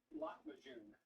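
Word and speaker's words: Lahmacun: Lot Majun. Ooh, Latvajun. The YouTube video I looked at about 45 minutes before streaming, but how to pronounce it is accurate. It's Lot Majun.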